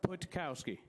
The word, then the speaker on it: Putkowski: it sir putkowski what putkowski putkowski just like it's written just yeah for one